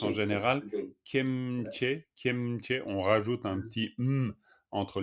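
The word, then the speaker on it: སྐྱེ་མཆེད: kieche tuk, qu'on prononce en général kemche, on rajoute un petit entre les deux, mais léger, kemche tuk.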